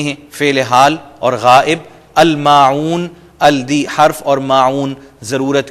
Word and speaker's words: الْمَاعُونَ: یہاں پر دونوں عین, یمنعون کی بھی اور ماعون, ان دونوں کو آپ انڈر لائن کر لیں کہ تلفظ میں آپ نے ان میں محنت کرنی ہے. وَيَمْنَعُونَ الْمَاعُونَ, اور عام ضرورت کی